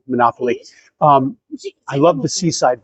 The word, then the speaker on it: Monopoli: Actually, I want to correct myself. I did hear people saying Monopoly. So, I know people are going to roast me in the comments for mispronouncing it this whole video, but uh please give me some credit for correcting myself at the end.